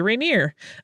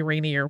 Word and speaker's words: Rainier: fixes my pronunciation there you can tell that I grew up for a time in the Pacific Northwest because I say Rainier uh but it's apparently Rainier when you're over in